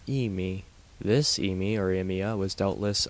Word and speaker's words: amia: is in my herbal we should probably pronounce Amy in two syllables as Amy this amia remya was